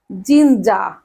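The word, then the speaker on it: ginger: কি আদার ইংরেজি আছে জিঞ্জা জিঞ্জা ছাত্র-ছাত্রীরা এখানে দেখো জিঞ্জা আর আছে জিঞ্জার কিন্তু আমরা এখানে আর এর উচ্চারণ করবো আমরা বলবো জিঞ্জা জিঞ্জা ওকে তারপর আসি তেজপাতা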